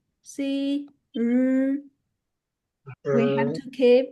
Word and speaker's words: 日: 诗 and 日, see, 日. We have to keep, when pronouncing 日, we have to keep our vocal cords vibrating. Yeah.